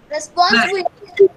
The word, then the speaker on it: responsibility: Responsibility. Now you have to stress the B. B and then responsibility.